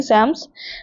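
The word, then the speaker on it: Psalms: सो ये ऐसे लिखा गया है बट इसमें एल भी साइलेंट है और पी भी साइलेंट रहेगा। इसको हम सैम्स पढ़ेंगे। लाइक डबल ए इस पे रखेंगे और इसको हम सैम्स करके प्रोनाउंस करेंगे।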